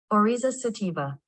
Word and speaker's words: Oryza sativa: So Orzo sativa, let's pronounce it. Oryza sativa.